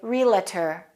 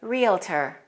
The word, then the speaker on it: realtor: say it realtor realtor some people say realtor i've heard native speakers pronouncing it that way don't say it like that make sure you say realtor a realtor is a